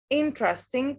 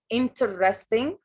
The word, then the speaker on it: interesting: Interesting. Take care of the pronunciation of this word. لأنه sometimes we make a common mistake. We say interesting.